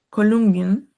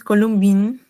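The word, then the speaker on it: Kolumbien: palabras sobre todo países, esta no es una y larga sobre todo si no me equivoco, es con respecto a países. A Columban, no es Columbin.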